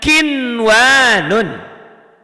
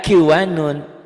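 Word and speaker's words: قِنْوَانٌ: Mana kinwanun. kinwanun. Selalu ya. Selalu kalau untuk idhar ini kita selalu harus nulis. Kinwanun, atau dihentikan kinwanun, ditulisnya kinwanun, dibacanya juga podo bae sama saja, kinwanun, enggak kiwanun.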